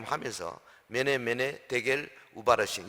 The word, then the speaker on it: 메네: 그 히브리어 성경에 보면요, 이 메네가 발음은 머네입니다. 머네 테켈, 우는 엔더, 그리고 파르신 그래요.